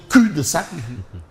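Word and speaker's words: cul-de-sac: Tu sais le professeur Pabo Diban va me dire le L ne se prononce pas ne se prononce pas. Est-ce que nous sommes dans un cul de sac en tout cas vers un blocage ?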